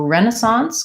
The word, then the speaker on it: Renaissance: question for the word Renaissance and incentive so Renaissance comes from the French and we change it a little bit from how they pronounce it so let's look at that word